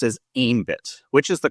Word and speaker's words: Aembit: So, let me ask what I'm going to assume is the source of this is is it ambit? I've also heard it pronounced as ambit which is the correct way.